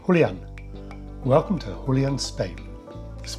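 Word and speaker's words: Julián: In Spain it's pronounced Julian.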